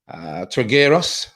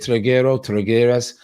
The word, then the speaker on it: Trigueros: And then Trigueros, I think his name, that's how you pronounce it, Trigueros.